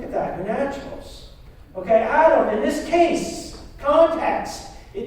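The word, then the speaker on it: אָדָם: you guys ready to learn a little yeah hebrew sound excited it's fun okay that word man is pronounced look at that your naturals okay adam in this case context it doesn't just mean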